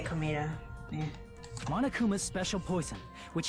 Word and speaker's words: Komaeda: Wait, it's pronounced Komaeda, not Komeda?